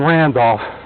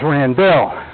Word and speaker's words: Randell: he started to say my name isn't randolph my name is rand bill for 40 years he